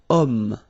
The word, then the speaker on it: homme: Remember, H is not pronounced, okay? So you've got the sound of O at the beginning of this word, okay?